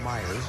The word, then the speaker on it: Mayers: Mike Mayers number 59 maybe that's Myers it's spelled Mayers but I think it's Myers renon a bloop single on